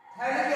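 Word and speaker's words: Phthalic: थैलिक acid ले लो, क्या ले लो? थैलिक acid. कौन सा एसिड? थैलिक acid. इसे थैलिक एसिड कहते हैं। ये साइलेंट होता है।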